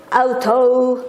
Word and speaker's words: auto: Jangan lupa O-nya auto gitu ya.